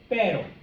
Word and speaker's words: pero: Okay, the first one, okay, is just a single R in the middle of a word. Clase, please repeat. Pero. Okay. Basically what's happening here is that your tongue is going up, the tip is touching the top of your mouth, and then it is sitting back down.